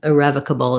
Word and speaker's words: irrevocable: rev so and then this o turns into a schwa sounds like an uh and then again we just like we just talked about with uh inevitable irrevocable is very similar with the uh bull at the end so that would